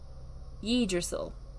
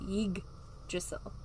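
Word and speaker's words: Yggdrasil: like tree of life so most people thought it was ye drizzle but they say it drizzle they they emphasize the g part of it yig drissell and the same thing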